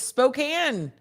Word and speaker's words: Spokane: two are my okay anna was right it's spokane spokane washington i did not know that am